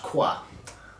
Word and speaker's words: Croix: croix d for t.i i think that's pronounced quoi um the french in me